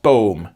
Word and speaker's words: boom: And then there's something that's spelt boom, but is pronounced boom, and is Dutch for tree, the letter G.